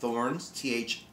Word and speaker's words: Thorins: It is, I believe the region is pronounced Thorins, T-H-O-R-I-N-S, Thorins.